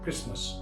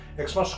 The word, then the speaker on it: Xmas: বলতে গেলে এটা হবে ক্রিসমাস। এটাকে এভাবে শর্ট ফর্মে লেখা হয়, কিন্তু কথাটার উচ্চারণ হবে ক্রিসমাস, মানে ভদ্র ইংরেজিতে। এক্সমাস কথাটা চলে না, আমি বলছি না, ওটা চলে।